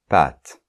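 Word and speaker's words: pâtes: ou le possessif mais mais en général es en fin de mots à part dans les cas que je viens de citer c'est mué donc par exemple pâte d'accord donc on va dire des pâes d'accord bon ok donc on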